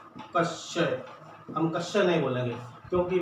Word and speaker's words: क्षय: और अगर हम जैसे मान लो दूसरा ये क्षय, जो टीवी रोग को कहते हैं, तो क्षय। अब इसको बोलेंगे, ये ऐसा ही बना है ना, कश्य।